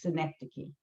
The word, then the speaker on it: synecdoche: i'll tell you what the word is it's synecdoche so if i say to you now and